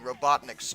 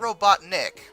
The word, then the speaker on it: Robotnik: you had been fighting robotnik's troops all night that you had oh it's actually robotnik not robot nick robotnik is how that's spelled you had made quite